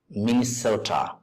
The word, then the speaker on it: Minnesota: Lane pain Main Sota second syllable is stressed Minnesota so Main misota pronounce